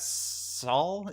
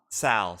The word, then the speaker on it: Saul: We got Saul. Is that how we pronounce it? It's Sal.